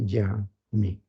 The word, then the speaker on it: jamais: Jamás se pronuncia jamais.